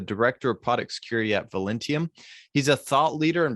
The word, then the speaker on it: Velentium: Am I pronouncing Velentium correctly?